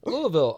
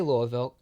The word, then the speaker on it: Louisville: I'm from Louisville, Kentucky. Louisville. Oh, cool. Yeah. Cool. You say it right.